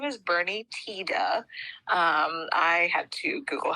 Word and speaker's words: Tiede: Okay, so his name is Bernie Tiede. I had to Google how to pronounce that because it's spelled Tiede. Oh, I definitely would have pronounced that wrong. Called him Tiede or something.